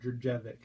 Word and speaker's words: Djurjevic: It's the one that's spelled like D-J-U-R. Djurjevic is how I pronounce that name.